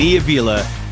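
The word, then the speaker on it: Kniivila: No idea if there's any connection there, but when I see the double I, that's what I go with.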